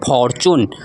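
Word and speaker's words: fortune: जो हमारा वो है टी यू इसको पढ़ते हैं हम लोग चू ठीक है जैसे हमारा हो जाएगा टी यू जैसे फॉर्च्यून ठीक है फॉरच्यून फॉर्च्यून ठीक है इसका मतलब क्या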